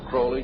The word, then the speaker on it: Crowley: about with aleister crowley he likes to bring have his name pronounced crowley to rhyme with holy and uh the satanists